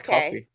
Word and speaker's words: Ko-fi: Ko-fi. Yeah, it's spelled like lo-fi, but it's like they put coffee cups everywhere, so it's like coffee.